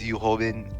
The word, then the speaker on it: Yu Hobin: It's Yu Hobin and Woo Deok. So What? just that's how you pronounce the name.